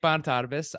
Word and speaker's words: Bonitatibus: in what areas you know it's considering I butchered your intro already oh good yes so my name is bantarbus I am the owner and founder of digital